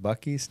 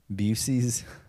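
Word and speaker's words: Buc-ee's: You pronounce it Bucky's, not Busey's.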